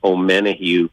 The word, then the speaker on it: Omenihu: Charles, I'm going to mispronounce his last name, Omenihu.